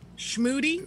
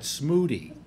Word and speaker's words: Schmooty: And to begin with, you would have to pronounce Schmooty correctly. Schmooty? You already lost her at Smooty.